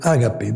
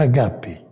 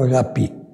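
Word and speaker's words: ἀγάπη: Nós dizemos ágape, mas na realidade é agape. Ou em grego pronunciado moderno, agapi.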